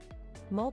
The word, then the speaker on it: mole: Mole, pronounced as mole, is a rich sauce in Mexico.